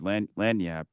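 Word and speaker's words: lagniappe: It- there's a Cajun word, lanyap, which is spelled with a G.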